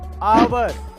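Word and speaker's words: hour: Number 2, अगर किसी word में ओ से पहले एच आए तो उसमें एच साइलेंट रहता है, जैसे कि ऑनर, आवर, ऑनेस्ट।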